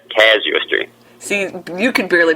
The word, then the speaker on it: Casuistry: called uh all right A lot of people pronounce it uh Kazo like a kazoo and uh I figured out that's the wrong way so I think it's uh C casuistry see you could barely